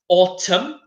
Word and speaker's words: autumn: guys are spring summer autumn mmm and I know there's an N at the end but in the pronunciation it's just mmm autumn and winter so maybe